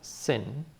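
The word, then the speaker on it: שין: the sound is s the letter is called sin and when the dad is on the left it's the S like sun or smile or snake notice that we already had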